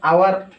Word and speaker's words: hour: sound, जैसे कि an hour, an umbrella। यहाँ पर h जो कि साउंड आवर यहाँ पर होता है, जो h यहाँ पर जो जैसे कि साइलेंट है इसलिए आवर आता है साउंड।